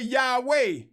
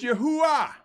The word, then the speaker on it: Yahuah: And those who rather say Yahweh, pronouncing the letter E like A, that's a European construct. It's Yahuah.